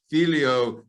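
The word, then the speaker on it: figlio: take that am i going to am i pronouncing it correctly he said felio okay filio he relocates it at the front that seems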